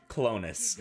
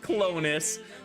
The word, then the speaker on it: Clones: honest i have to be honest it is pronounced clonus it's pronounced clonus but it looks like the word clones which